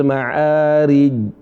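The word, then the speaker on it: المعارج: Seringki tidak keluar suara qalqalahnya. Minallahidil maararij. Maararij bukan rij.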